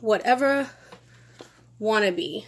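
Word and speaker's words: Watevra Wa'Nabi: Queen Whatever Wannabe. See how they like say her name? It's like Whatever I Wanna Be.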